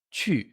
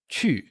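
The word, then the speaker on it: 去: com a letra U, quando a gente tem o Q ou G no pinyin, pronunciado como chu, que a gente tem aqui. Então, ir é chu, chu, chu.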